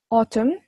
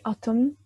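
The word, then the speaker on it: autumn: tapi lagi-lagi aku ingatkan cara bacanya spring sama ocem ocen mm nya jangan dibaca jadi auton anggap aja gak ada n-nya dan wingser nah lalu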